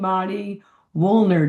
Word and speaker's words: Mari Wuelln: Our conversation to connect today is with the amazing Madi Wollner. Did I pronounce that right, Madi?